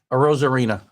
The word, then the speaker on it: Arozarena: So, Randy Arozarena. I got it. Arozarena.